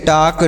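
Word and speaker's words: talk: देखते हैं क्या है टी ए एल के टॉक डब्लू ए एल के वाक सी एच ए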